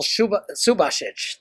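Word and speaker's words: Subašić: So in Daniel Subasic, that's how his name is pronounced.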